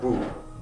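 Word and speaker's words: 武: this or in J Japan is pronounced bu okay uh as Bushido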